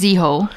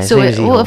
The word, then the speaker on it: Ziho: His name's Ziho. Yeah, Ziho.